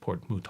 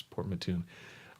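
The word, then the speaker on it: Port Mouton: sorry Linda port Mattoon I mispronounced it - as I said port moot all I thought was French but no it's port Mattoon so different debate we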